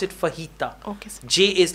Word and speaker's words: fajita: it's Spanish word so in English also we pronounce it fajita okay Jay is like her fajita all right let's go on do you think